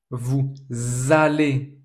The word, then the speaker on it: vous allez: Vous allez, always pay attention to the liaison, vous allez en vacances, you go in holiday, you go for holidays.